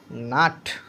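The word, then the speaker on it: nut: এই এনের পরও যে ইউটা আছে সেটা কনসোনান্টের পরে ইউ, এই ইউটা উচ্চারণ হবে আ, তার মানে হচ্ছে বাট।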